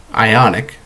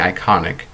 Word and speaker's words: Ionic: and the new Fitbit Ionic. I always keep saying iconic. Can't tell you how many times I've pronounced that wrong.